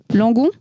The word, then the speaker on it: Langon: Donc c'est pas à Bordeaux même, c'est à Langon. C'est ça que se prononce Kevin.